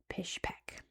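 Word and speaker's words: Pishpek: develop the area, but in Russian they pronounced it Pish Peek. So, it's known as Pish Peek for quite a while and I still found some places here called Pish Peek.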